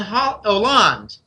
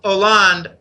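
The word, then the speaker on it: Hollande: to show Merkel and H Oland a lot of people call them it's silent h in French it's franois land but I'm told that Putin showed Merkel and Oland a number of different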